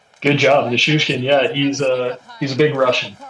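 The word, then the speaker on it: Nichushkin: Am I pronouncing that right? Nushishkin? Good job. Nishushkin, yeah, he's a big Russian, so it's harder to pronounce.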